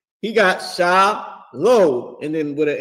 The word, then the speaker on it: shalom: He got sha low and then with a m. So the oppressor is pronouncing the word correctly and fake Israelites are